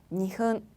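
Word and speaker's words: にふん: 그 이유가 앞에서 설명드렸던 것처럼 분은 앞에 오는 숫자에 따라서 그 발음이 조금씩 달라지기 때문에 그러한데요. 1분부터 보도록 하겠습니다. 1분은요. 이쁜. 반타금이었죠. 이쁜. 그리고 2분은요. 니흔.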